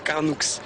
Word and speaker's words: Carnoux: oui j'habite ici et on prononce carnou et cassis ou Cassi si ça ça dépend des gens comme il préfèrent comme on préfère appeler moi personnellement je dis carnou puisquon dit que ça